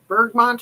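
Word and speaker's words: bergamot: I get Bergmont oil, if that's how you say it. Bergmo, you know, the smell that's in um Earl Grey tea. So, Bergmo, I think is how you're supposed to say it.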